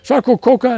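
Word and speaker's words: Sarcococca: ever hear sarco coca coca if you can spell it you get a free bottle of water that's hard it's like s-a-r-c-o-c-o-c-c-a sarco coca and this is uh uh salinas s-a-l-i-g-n-u-s notice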